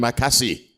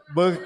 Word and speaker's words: Bekasi: God bless all the nice people in Makasi. Tuhan berkati semua All orang right. baik di Bekasi. Am I saying it wrong? Bekasi. What is it? Bekasi. Oh, Bakasi. Bekasi.